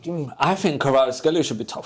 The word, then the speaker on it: Kvaratskhelia: It's syllables, man. Kavara. Nah, like, alright. Alright, forget that. Kvicha, Kvaratskhelia. Kvaratskhelia.